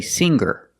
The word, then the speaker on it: singer: we don't say singer the G is not pronounced with a hard G sound ER is not correct we say singer make a nasal sound with the NG singer and then link to the ER sound singer singer she's a